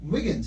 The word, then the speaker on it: Wiggins: go right yeah wiggins it rhymes with higgins i like it so